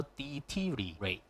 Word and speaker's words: deteriorate: 咗，佢唔好讀，就 deteriorate 咁就 OK 嘅啦。